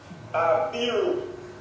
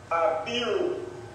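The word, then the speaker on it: Abiru: Apiru, and it is spelled A B I R U. Apiru.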